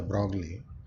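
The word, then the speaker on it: de Broglie: manner there was a hypothesis by the broad which you people know commonly pronounces the broccoli so the brow said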